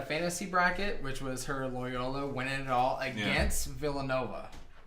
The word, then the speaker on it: Loyola: Did I say it wrong? Lola. You were singing Lola. Whatever.